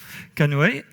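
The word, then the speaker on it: CNOE: site de CNCF ou CNOI prononcé Cano canoe et qui où il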